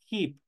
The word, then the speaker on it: hip: codo espalda Back cadera Hip tenemos otra H aspirada que aquí en este caso se pronuncia como que estuviera una J Hi es cadera cintura